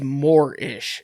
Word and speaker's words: Moorish: is what they call i think it was morish is how it's pronounced it's a group of